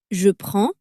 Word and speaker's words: je prends: Je prends ends with a nasal sound.